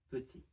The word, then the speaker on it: petit: Petit. Petit can be pronounced just petit.